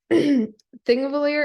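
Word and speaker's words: Þingvellir: that's pretty exciting um thing of a lawyer is traditionally spelled ping valir um that thing that looks like a p is pronounced with a th so that's how we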